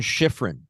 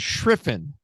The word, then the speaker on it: Schriffen: John Schifrin. That's not his name. His name is Schriffen.